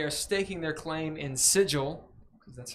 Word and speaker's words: Sigil: anyway uh they are staking their claim in sigil because that's how it's pronounced and wondering the planes getting into misadventures